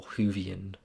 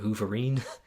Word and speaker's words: Whovian: Doctor Who fan, or Whovian, I guess, which, fun fact, I actually used to call it Hooverine when I was younger, because I couldn't pronounce it properly.